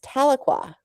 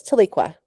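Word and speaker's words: Tahlequah: So my daughter, having been to Oklahoma, having having known about Taloqua, raised her hand and said to her teacher, "It's pronounced Taloqua." And the teacher shut her down and says, "No, it's Tiqua."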